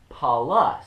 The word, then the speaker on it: Paulus: would have been the biblical greek would be pronounced transliterated more so as paulos p-a-u-l-o-s and in the latin it would be paulus that's p-a-u-l-u-s and so you know greek and